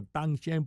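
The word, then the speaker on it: Danshen: Recuerde, en chino se pronuncia tang shen porque la d suena como una t, pero se escribe d a n s h e n.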